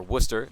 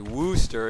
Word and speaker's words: Wooster: barbara high school is gonna be taking on wooster high school or worcester as most people say unless you're uh from from a non-uh ohio area you might say wooster if you've never heard it but worcester is